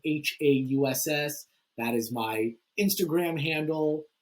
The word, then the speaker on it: Hauss: But yeah, it's Hauss, like the German spelling of house with an additional S.